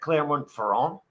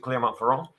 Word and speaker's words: Clermont-Ferrand: However, at the 1972 French Grand Prix at Clermont-Ferrand, I hope that's the way you pronounce it, Clermont-Ferrand.